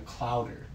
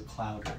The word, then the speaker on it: Clouder: And so our second album's title is Clouder. Yeah, not a murder of crows. It's a clouder of cats. And it's spelled just like chowder, but with an L instead of an H.